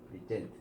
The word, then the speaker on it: present: 동사니까 present라고 발음하셔야 돼요. present, 그렇죠?